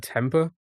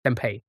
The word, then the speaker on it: tempeh: How do you how do you pronounce that? Temper. Temper. And now you want it. Peanut curry was sliced. Tempe consuming and no one else will eat it. Tempe. Tempe. Tempeh. Fermented soybeans.